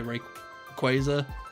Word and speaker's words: Rayquaza: feel like it's probably a uk australian thing like people who speak like sort of like uk english and would probably call it rayquaza no rig rayquaza i'm starting to doubt myself i keep saying it wrong because i'm trying so hard not to say it wrong um yeah but i feel like english people well uk people australians probably new zealand as well would probably say ray quasar uh and everyone else